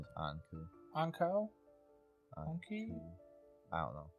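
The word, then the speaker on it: Ankou: I think the proper pronunciation is Anku.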